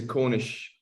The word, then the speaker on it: Cornish: The second word is spelt men, but it's pronounced Maine, as in M-A-N-E. It's a Cornish word.